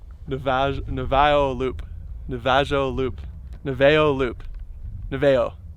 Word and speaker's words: Navajo: the vag neville loop navajo loop noveo loop noveo right that's your final answer the veyo yeah j silent it's pronounced navajo navajo oh how about